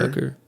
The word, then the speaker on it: Tucker: So 12 Tucker Tucker like sucker punch.